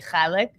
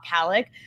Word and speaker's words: Khalek: But in my defense, they can't say the kha in English. So I've been trying to help the whites by saying Khalek my whole life, and now it's the only way I know how to say it.